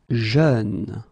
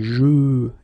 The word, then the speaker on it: jeune: Jeune. Same thing, you don't say je, you say jeune, okay? So it goes like peur, œuvre, jeune, okay?